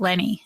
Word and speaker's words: Lene: about what he's doing at Lenny, and it's spelled Lene.